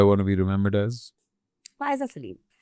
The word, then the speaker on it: Faiza: नहीं। एक तो कभी कभी मैंने अब डिस्कशन किया, हाँ FAI, कभी कभी जो बोलते हैं मैं सोचती हूँ कि स्पेलिंग देख, नाम देख। मैंने फाइजा ही बोला। एडिट करा इन्होंने बोला है, FAIZA, Faiza Salim.